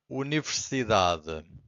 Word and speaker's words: universidade: Every time this happens, the final syllable, the last one, it's very weak. It's not silent, but it's very weak. It's hard to hear. Universidade. So, universidade. So you can hear universidad, but then what comes